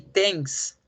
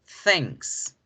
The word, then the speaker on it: thanks: late muchos decían así text pero realmente no es así como se debe pronunciar la palabra cierto realmente la palabra se pronuncia con este sonido sense things thanks wright entonces por eso